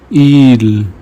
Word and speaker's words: il: Whenever you see I, pronounce it like E in the English word me. Ami means friend. Il means he.